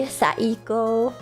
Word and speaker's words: Saiko: So no, you have to pronounce the ooh at the end for it to be Saiko.